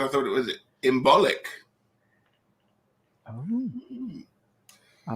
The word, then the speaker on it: Imbolc: girt on the sea so it's imbolc like that i've heard it said that as well each to our own well i'm all about the bee so i like to say the bulk at the end but that would be wrong and jean said i